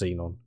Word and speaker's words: Xenon: Okay, it is just Xenon.